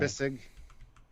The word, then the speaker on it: Bissig: David Bessig though throws in $5. Oh, Bissig. I know, Bissig. I always say it wrong, but he throws in $5, and he said, "I love the 4:00 reminder.